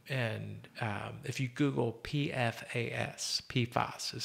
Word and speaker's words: PFAS: But one thing we're doing, and this is important, and if you Google PFAS, PFAS is how it's pronounced, mm-hmm.